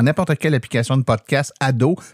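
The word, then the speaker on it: Ad'haut: Donc, vous tapez dans n'importe quelle application de podcast Ado, mais attention, ça s'écrit AD apostrophe H-A-U-T.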